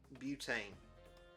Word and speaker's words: butane: Okay, how do I pronounce it? Butane. Okay, it's pronounced butane.